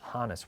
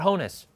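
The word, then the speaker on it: Hannes: It is Hannis Wagner. It is not Honess. You can say Honess. Like 60% of people say Honest, but it is Hanis, short for Yaness.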